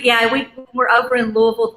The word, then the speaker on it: Louisville: versus the Louisville area which is how you pronounce that city like all right Louisville I got it right but they're rivals to